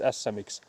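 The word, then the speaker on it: Ässä-Mix: actually in Finnish it's asamix. So, that's the that was a word you were having trouble pronouncing. It's asa. So again, you have to have both both of the s letters there.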